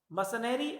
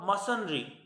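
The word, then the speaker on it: mercenary: मसनरी, सो मसनरी, मसनरी और मसनरी both pronunciation are correct.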